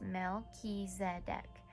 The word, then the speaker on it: Melchizedek: uncovered don't give up melchizedek pronounced mel ki zedek whose name means king of